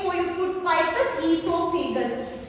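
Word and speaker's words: oesophagus: The other name for your food pipe is esophagus. See here your O is silent letter.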